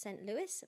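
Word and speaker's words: St. Louis: me in saint louis it's usually pronounced saint louis but they used the french version because it rhymed with louie garland recorded the song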